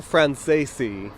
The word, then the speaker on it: Franzese: Daniel Franzese.